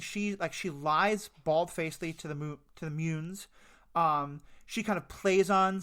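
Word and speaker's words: Muun: Mune.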